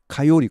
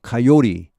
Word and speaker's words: coyote: 밤 늦게 you can hear coyotes. coyote, 코요테죠 우리말로. 영어 발음 coyote. 이도 T 발음이 사실 굉장히 어렵습니다. 미국 사람들 하기는요. coyote, 리리 이렇게 러로 발음되면 미국 사람 굉장히 쉽게 할 수 있죠.